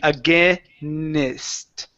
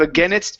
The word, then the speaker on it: against: adding an extra vowel you're saying againist okay instead of against it's against okay against oh almost you're